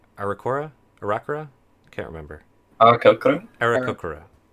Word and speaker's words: Aarakocra: So Milvane, gosh, how do you pronounce this? Arakora? I can't remember. Arakokoro? Arakokora. Aarakocra. Yep, Arakokra.